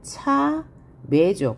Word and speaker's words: 참외: 자, 다음에 조심해야 할 게 참외의 정확한 발음은 차외죠. 그런데 이 외는 원래 단모음 체계표에 들어가 있어서 그렇죠. 이렇게 발음하는 것도 맞지만 이중모음처럼 발음해서 이렇게 발음함도 허용합니다. 두 개 다 맞는 표현이라는 거 기억해 두시고요.